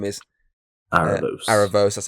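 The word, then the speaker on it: Aaravos: whatever his name is Aros Aros as how you pronounce it obviously that's two arcs so far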